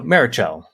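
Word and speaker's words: Meritxell: The first from MTC says that the TX in Meritcell is pronounced like CH in English. The final syllable therefore sounds like the name of the player character in Portal. Okay, yeah, so Meritcell.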